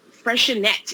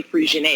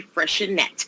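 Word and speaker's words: Freixenet: that i'm showing you today is uh is freshenette is the way it's pronounced i used to say freezing but it's actually fresher net and freshen that brute cava is a dry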